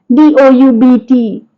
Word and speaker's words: doubt: Doubt. So the sound or the letter B is silent in some of the words.